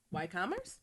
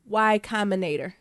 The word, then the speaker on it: Y Combinator: Like why Why commerce? No, why commentator? You still don't know it. How you pronounce that? What, are you asking me? Yeah. Y Combinator.